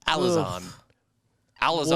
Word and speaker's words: Alizon: No, Sorry. No. It's Alison. Alizon. Alison. We Alison. give couples now a hard time for the names they pick. But back in the day, They just threw anything out. Yeah. It's spelled like a Narnia lion.